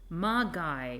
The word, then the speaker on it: Magi: Magi rhymes with die, I think.